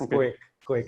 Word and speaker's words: KOAK: So we pronounce it as KOAK Education.